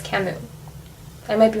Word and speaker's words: Camus: i think it's pronounced camus but it has an s at the end but i'm pretty sure it's camus i might be wrong